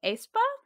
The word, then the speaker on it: aespa: So I am currently really into the song Spicy by, I believe it's pronounced aespa.